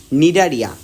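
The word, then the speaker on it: Cnidaria: কাটতে পারে তুমি অবশ্যই নিডারিয়া বানানটা শিখবা ঠিক আছে সি দিয়ে কিন্তু শুরু সি এন আই ডি এ আর আই এ নিডারিয়া এরপর আমরা নিডারিয়া পর্বের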